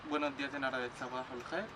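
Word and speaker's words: صباح الخير: En árabe buenos días es sabahul khair.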